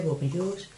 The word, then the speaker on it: Bourjois: Ahora voy a utilizar los polvos de Bourjois, o se pronuncia Bourjois, polvos translúcidos.